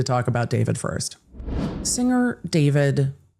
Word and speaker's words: D4VD: Singer David, stage name David spelled with a four, was back in court